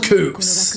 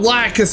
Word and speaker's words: Lacus: Seed Freedom, I learned her name was actually pronounced この Lacus. 学院で簡単な手伝いをしてた。 And not Lacus, as we all thought from the Ocean Dome of Gundam Seed.